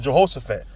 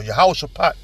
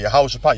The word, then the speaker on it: Jehoshaphat: The Valley of Jehoshaphat, or Yehoshaphat, that's how you say it. All right, Yehoshaphat, Yahweh's judgment.